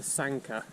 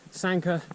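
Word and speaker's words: Sanquhar: And then from around there, it's almost all downhill to Sanka, I think. Sanka is spelt Sanquahar.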